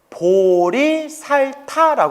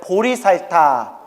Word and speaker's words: 보리살타: 보디사트바 깨달음의 길을는 중생 보디사트바 한자로 표기하면 보리살타 불러요 발음을 따서 따라해 보세요 보리살타 보리살타 어디에 나올까요 여러분들이